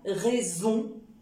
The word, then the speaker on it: raison: automatiquement le sens mais j'obtiens aussi le son e avec un S au milieu de deux voyelles comme raison poison raison un seul s au milieu de deux voyelles comme le i le haut le a le U le U ça donne le son ze raison poison si jamais